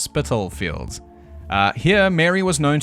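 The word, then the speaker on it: Spitalfields: Yeah, thank you to the several comments pointing out it's pronounced Spittlefields.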